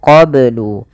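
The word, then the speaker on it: قَبْلُ: Kemudian melafal qoblu ini bnya harus dipantulkan karena ia ada bacaan qalqalah maka bacanya adalah min qoblu. Kesalahan yang terjadi dalam membaca qalqalah tidak memantulkannya.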